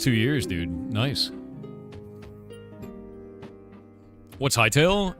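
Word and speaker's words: Hytale: What's Hightail? It's spelled H Y T A L E.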